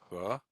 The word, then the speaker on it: хорошо: This O is pronounced as an A. So хорошо. Only the final O is fully pronounced as an O, because that's the one that's stressed.